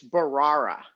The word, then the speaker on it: Bharara: before he shows up though I learn to pronounce his name it's Barrera we dump ahora he said Mahara did I